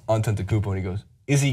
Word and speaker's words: Antetokounmpo: of recent and he goes how do you pronounce that guy's name I tell him it's ontent Koo and he goes is he good just watch